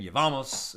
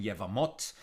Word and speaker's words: Yevamot: uh uh you know depending on there's ashkenaz kind of yeshiva's pronunciation yevamos right or more hebrew uh sephardic you know modern pronunciation yevamot right same word uh